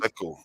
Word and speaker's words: Sako: Yes, Sako. That's how it's pronounced.